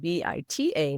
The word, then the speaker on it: Bita: So I decided to go with bita for two reasons unique and it rhymes with my name because my dad used to call me Anita Nita.